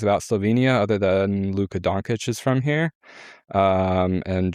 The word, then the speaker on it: Dončić: We'll work on the pronunciation, Luka Dončić. Dončić.